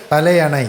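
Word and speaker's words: தலையணை: നിർത്തി വിടുന്നതിനെയാണ് ഈ പറയുന്നത് പക്ഷെ തമിഴിൽ പറയുമ്പോൾ അത് തലയണ എന്നുള്ള രീതിയിലാണ് ഉച്ചാരണം പറയുന്നത് ഗൂഗിളിലും അങ്ങനെയാണ് കിടക്കുന്നത് വാവ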